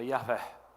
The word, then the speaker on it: Yahvé: o nome de Deus, que a gente supõe que a pronúncia seja Yahvé.